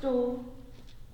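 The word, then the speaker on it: Door: what your name no it's just do how do you spell it um d o o r like something you walk through to go places what have we waiting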